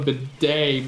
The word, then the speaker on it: bidet: like why is it called a bidet but it's spelled a Baudette T is silent yeah that's stupid it's